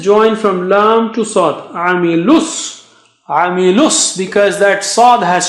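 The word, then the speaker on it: عَمِلُوا: the exercises, but here, Amilu, after lam with dhamma, lu. You have waw, but no sign, so we don't read it, we don't read alif, we don't read alif,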